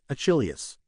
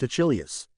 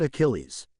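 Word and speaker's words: Achilleus: Achilius. It is pronounced Achilius, not Achilles. Achilles is the Roman version, and I happen to be Greek.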